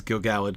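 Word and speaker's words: Gil-galad: druid's fire yes yes Benjamin Walker pronounces Gil galled correctly unlike me it's absolutely true um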